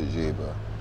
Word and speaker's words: Geba: road at one one time to go to jaiba jaiba which is spelled g-e-b-a the jaybird guinea-lesson very nice area